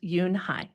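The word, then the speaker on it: Unhei: "Younai said, Yunhai." Un? The girl asked, scrunching up her face. Ooh. Ooh. U ne. Some kids chanted. No. No. Yhi corrected. It's spelled U N H E I. It's pronounced Yunehai.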